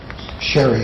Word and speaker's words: Jerez: Sherry is how the word used to be pronounced, and it's the home of that and arguments about flamenco.